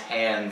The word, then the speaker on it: Han: love that retcon of why it's pronounced hand versus on in some scenes there